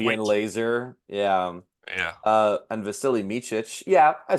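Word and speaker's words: Vasilije Micić: And Vasily Micic, yeah, I said that right.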